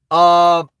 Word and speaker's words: Jamando: It's pronounced Jamunda.